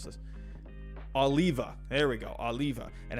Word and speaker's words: Oliva: oliv i can't talk what how do you pronounce this oliva there we go oliva and how do you